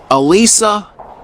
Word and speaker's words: Alisa: some questions okay what's your first name Elisa Alisa how do you spell that a-l-i-s-a thanks and what's your surname Elisa